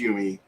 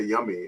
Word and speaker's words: Yumi: And then I changed it to Yumi, which is Japanese. And right. My wife's like, they could just say yummy.